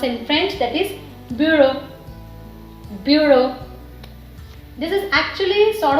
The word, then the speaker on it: bureau: We pronounce the same way as we pronounce in French, that is bureau. Bureau. This is actually sort of loan word. Okay, so EAU is O, B is B, U is U in French.